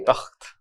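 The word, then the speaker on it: तख़्त: Epiglottis से नहीं आए जब तक तो मजा नहीं। हाँ जी, तख्त। नो, से इट, यू से इट वेरी तख्त। तख्त।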